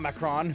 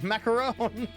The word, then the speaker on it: Macaron: Oh, not Macron. Macaron. Said it wrong.